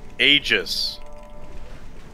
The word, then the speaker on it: aegis: what is it uh aguius aguius of the sun bird all right it's pronounced aegis no that's what that's